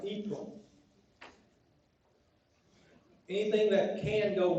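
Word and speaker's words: Yhprum: And it's spelled Y-H-P-R-U-M. Pronounced Yprum. No idea. Anybody ever heard of that? Spell it again. Y-H-P-R-U-M. It's pronounced Yprum.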